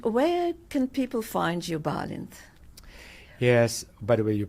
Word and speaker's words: Balint: And where can people find you, Balint? Yes, by the way, you're pronouncing my name perfectly.